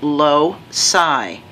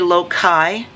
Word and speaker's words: loci: the plural and it's low psi you might hear some people say low chi but ci generally says like in city circular so ci usually says